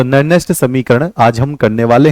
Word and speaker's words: Nernst: तो आज हम पढ़ने वाले हैं नरनेस्ट समीकरण।